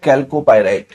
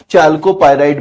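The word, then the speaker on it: chalcopyrite: अयस्क है वो है कैल्कोपाइराइट। ठीक है, कैल्कोपाइराइट भी आप बोलते हैं, चाल्कोपाइराइट भी बोलते हैं, आप कुछ भी लिख सकते हैं। कैल्कोपाइराइट, या फिर चाल्कोपाइराइट। दो अलग अलग तरीके से इसका प्रोनाउंसिएशन है।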